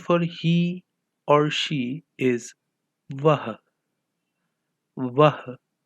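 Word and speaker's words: वह: In Hindi, the word for he or she is vah. Vah. Both of the A's are understressed while pronouncing the word.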